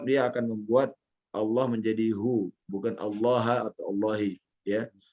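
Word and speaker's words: هو: Syahidallahu annahu la ilaha illa huwa. Baik. Afwan, jangan dibaca huwa ya, dibaca hu ya. Hu, dibacanya hu.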